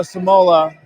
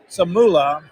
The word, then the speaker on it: Samula: That's Noah Samola. CJ well short on the first free throw. Noah Samola's first foul. Samula. Oh, I pronounced that incorrectly.